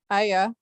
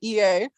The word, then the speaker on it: Ea: Evidence flashed before my eyes that in addition to Iraq and France, EA, pronounced Aya, okay, I always say EA, also operated a bluestone-based Stargate mystery school.